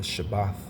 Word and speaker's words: Shabbat: the Sabbath right or the shabbath that's how you say it in Hebrew okay and you know